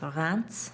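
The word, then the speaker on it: Reims: Actually, it's spelled R E R R I E M S, but it's pronounced Rance for some reason, like an N.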